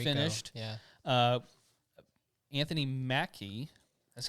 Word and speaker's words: Anthony Mackie: right we know that it's finished yeah uh anthony mackie that's how you say his name right yep